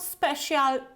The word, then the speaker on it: special: So there is no shial in these words. It's not special, it's not social, it's not official. I can hear it very